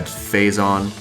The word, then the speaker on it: Phazon: But the biggest change is right there off the top of it's pronounced, or it's said, phazon, and then the second half is exactly the